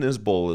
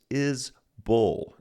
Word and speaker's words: Isbell: By the way, the correct pronunciation of his name is Isbell, not Isbell.